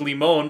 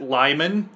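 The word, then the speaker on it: Limon: that's Li mo n which is actually a Spanish word which is lee-moan but we pronounce it Lyman yep yeah that's yeah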